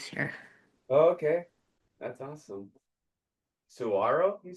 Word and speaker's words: Saguaro: Saguaro, you said? Okay. It's got the silent G in there.